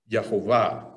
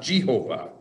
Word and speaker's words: Yehovah: Yehovah, not Jehovah. Use the Y.